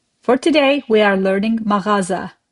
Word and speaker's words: mağaza: For today we are learning maraza. You see how I pronounce sound. It's a guttural sound. You don't skip it. You got to do it.